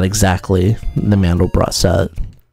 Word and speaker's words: Mandelbrot: I think it's Mandelbrot, because it means almond bread, and brot means bread in German. It's not French, so I think it's Mandelbrot.